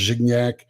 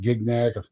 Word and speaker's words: Gignac: It's pronounced the jigs up, just like my last name is pronounced Gignac. We pronounce it Gignac. It's always been that way.